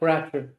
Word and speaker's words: Bratcher: How do I pronounce that, Ray? That's correct, Bratcher.